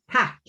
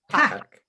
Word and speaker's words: tack: Tack. Hotch. Tack. Tack. Tack. I feel like I've heard that. Tack. That feels like a familiar word to me. I don't know why. Tack.